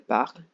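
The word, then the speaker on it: parlent: You have to stop pronouncing just before ENT because the ENT is completely silent. So let me repeat once again. Je parle, tu parles, il parle, elle parle, nous parlons, vous parlez, il parle, elle parle.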